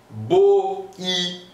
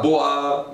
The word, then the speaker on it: boi: Je pense par exemple boi, né, boi, le bœuf. Je vais dire boi, boi, boi, pas bois, non, boi, c'est ça.